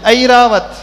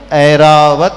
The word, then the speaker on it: ऐरावत: उसे ई बोलते हैं रावत रावत भी नहीं है रावत भी नहीं है ऐरावत है है ना सही उच्चारण क्या